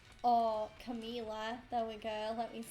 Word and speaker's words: Camila: I also really like the songs he did with Miley and Camilla. Or Camila, there we go, let me say it right.